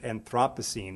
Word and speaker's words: Anthropocene: this word was pronounced anthropocene but everybody here in colorado of all places chooses to pronounce it anthropocene as if they've just gotten off the plane from london which some of you